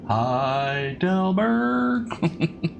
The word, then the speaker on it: Heidelberg: So, Heidelberg, it's pronounced Heidelberg.